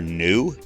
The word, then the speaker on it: Nu: the abbreviation for frequency it looks like a V it's actually the Greek letter Nu and it's often confused with the V for velocity that's sometimes used in class but this is actually new which is frequency so the speed of